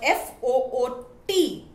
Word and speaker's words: foot: long u sound but f o o t is pronounced as foot the short oo sound now i hope that